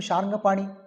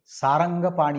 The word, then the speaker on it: ಶಾರಂಗಪಾಣಿ: ಅದೇ ನಮ್ಮ ರೂಢಿಯ ಮಾತಲ್ಲಿ ಇವತ್ತು ಸಾರಂಗಪಾಣಿ ಅಂತ ಆಗಿದೆ ಸಾರಂಗಪಾಣಿ ಅದು ತಪ್ಪಾಗಿ ಅಂದ್ರೆ ಜನರಿಗೆ ಅದನ್ನ ಉಚ್ಚಾರಣೆ ಮಾಡಲಿಕ್ಕೆ ಬರೋದಿಲ್ಲ ಶಾರಂಗ ಅಂತ ಹೇಳಲಿಕ್ಕೆ ಸಾರಂಗಪಾಣಿ ಕೆಲವು ಅರ್ಥ ತಪ್ಪಾಗಿ ಬರೆದಿದ್ದಾರೆ ಸಾರಂಗ ಅಂದ್ರೆ ಜಿಂಕೆ ಸಾರಂಗಪಾಣಿ ಅಂತ ಜಿಂಕೆಗೆ ಸಾರಂಗ ಅಂತ ಅನ್ನಬಾರದು ಇಲ್ಲಿ ಶಾರಂಗ ಅದು ಶಾರಂಗ ಪಾಣಿ ಕೈಯಲ್ಲಿ ಜಿಂಕೆ ಹಿಡಿದಾನ ಭಗವಂತ